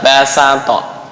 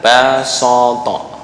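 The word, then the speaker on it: بسط: Kenapa kok dibacanya sin? Karena asal dari bastoh fi'il madhi. Fi'il madhi itu kata kerja adalah basato, bukan basoto.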